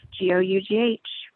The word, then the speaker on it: Gough: So it's just like Gough, G-O-U-G-H. So that's where people can find me. And I was really struggling with your name before we met, but then you said rhymes with cough, and I got it.